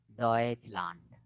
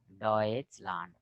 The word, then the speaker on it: Deutschland: Deutschland, Deutschland, four letters, च. Chandan, chammach, no? Chun chun, no? Deutschland. Tion, Sion. They pronounce Sion.